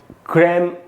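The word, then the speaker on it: crème: ये जो ई के ऊपर ऐसे लगा है चिन्ह, इस साइन जो है, उसका मतलब है कि इसको ई को ए पढ़ना है, ए। तो इसका जो प्रोनाउंसिएशन है वो है क्रैम द ला क्रैम। क्रैम पढ़ेंगे इसको।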